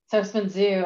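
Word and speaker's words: Herstmonceux: And I've been to the one, and I call it Hurstman Zoo. I don't know if I'm pronouncing it wrong. Hurstman Zoo. Hurstman Zoo, okay. It's not pronounced how you would expect it.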